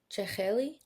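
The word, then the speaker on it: jakhli: What that word how that word is pronounced? Cheli.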